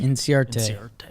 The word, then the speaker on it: Inciarte: Inciarte? Inciarte.